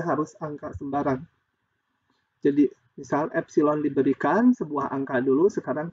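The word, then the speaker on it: ε: Di tabel ini diinginkan kalau delta epsilon, ini bacanya epsilon ya bilangan ini, huruf Yunani.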